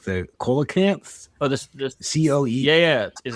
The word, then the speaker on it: coelacanth: Oh, I'm not going to pronounce this correctly, but it's like the coelacanth. Oh, this COE. Yeah. Is it coelacanth?